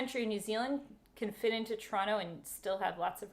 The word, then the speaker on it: Toronto: You know that's how you say it in Canada, Toronto. You don't say Toronto. You say Toronto.